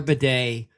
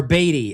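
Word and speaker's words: Badie: Um but um or Batty, excuse me, Batty. Batty. It's It reads like Batty's. It's Bedet.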